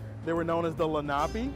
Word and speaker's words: Lenape: They were known as the Lenape, it's spelled L-E-N-A-P-E.